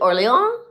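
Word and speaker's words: Orléans: I wonder is it Orleans? Orleans. Orleans. I know I don't pronounce the N.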